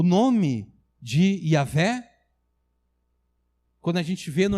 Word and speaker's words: Yahvé: Alguns chamam de Jeová, mas é provável que Jeová não seja... Jeová é pronunciado com outras vogais que não são as vogais originais. Então, de fato, o nome de Deus é Yahvé.